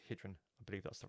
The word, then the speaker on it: Gydran: is actually not pronounced Gan it's pronounced hrin I believe that's the right way to pronounce it it's a Welsh word and I lived in